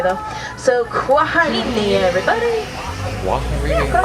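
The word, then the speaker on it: kwaheri: here harambe we don't say goodbye we say quarini quarini is SW for goodbye more fun to say though so quarini everybody all right watch your hands arms feet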